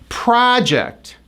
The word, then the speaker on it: project: I am working on my science project. It's a huge project. When the stress is on the second syllable, it's a verb.